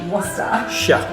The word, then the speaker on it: Worcestershire: Think of rooster. Rooster. Ruster. Ruster. Worcester. Worcester. Shire. Shire. Worcestershire. Worcestershire. Worcestershire sauce.